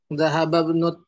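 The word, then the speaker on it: ذهب ابن: Dhahaba ibnu. Nah itu. Alifnya tidak terbaca karena ada yang mendahului yaitu dhahaba.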